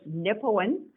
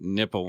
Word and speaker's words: Nipawin: It's Nipawin, Nipawin. Nipawin. And you know how I know how to spell it?